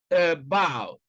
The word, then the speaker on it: about: You can see that stress is on the second syllable in about, and also in return, return.